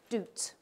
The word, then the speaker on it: doubt: I live in Scotland, and in many people in Scotland say this word with a Scottish pronunciation, doot. Okay? So how come Scots say doot with the vowel oo, and I say doubt with the vowel ow?